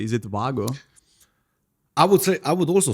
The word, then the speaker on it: Wago: But then one thing that was really interesting to me is that Wago, do I pronounce this correctly? Is it Wago? I would also say Wago.